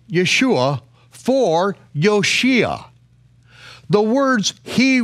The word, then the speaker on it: Yeshua: earth with the divine instruction to call him Yeshua why because yoshiya he will save his people